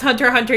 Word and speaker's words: Hunter x Hunter: watched Hunter x Hunter he pronounced the X in it and I told him it's pronounced Hunter Hunter you uncultured swi oh